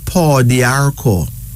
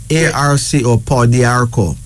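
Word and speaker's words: pau d'arco: Well, there's a herb called paw d'arco that may actually help you. Okay? Tell that. P-A-U-D apostrophe A-R-C-O. So just write P-A-U-D-A-R-C-O, paw d'arco.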